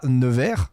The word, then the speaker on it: Nevers: tu es né un 17 mars 1992 à nevers c'est bien comme ça qu'on y prononce voilà puisque jean-françois bernard qui est lui-même